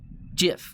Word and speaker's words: GIF: maybe am i crazy jiff with the soft g we could call it